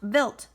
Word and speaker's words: Wild: The plan was for the spacecraft to meet a comet called Comet Wild 2, pronounced Wild.